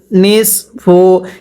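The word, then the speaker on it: نصف: ওয়ালাকুম নুন সদ নিস ফা পেশ ফু নিসফু এই সদকে সদের মত করে উচ্চারণ করতে হবে নিসফু মিম আলিফ জবর মা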